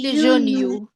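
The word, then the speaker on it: June: جونيو جون جون عارفه الاي دي بنسميها ماجيك اي الاي السحريه ما بننطق اسمها خالص خالص ولا بتعمل اي حاجه كل اللي بتعمله ان بتخلي اليو بدل ما تقول اه تقول يو يو اللي هي جون ب الاتنين بيبدا بجو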